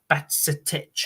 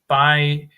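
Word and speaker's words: Bajčetić: Your youngster, yeah, Batsitic, I think is how you say it. For a few seconds, yeah. Bychetic. Right, okay. Bychetic. I'm going to have to practice that because that's a tongue twister.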